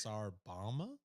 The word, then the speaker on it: Tsar Bomba: I just heard boba. I think I even pronounced that wrong. It's Tsar Bomba?